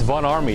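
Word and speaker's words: Von Ormy: It's Von Army. It's pronounced with an A.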